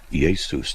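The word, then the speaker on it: Ἰησοῦς: Iesus. That's how it's really kind of pronounced.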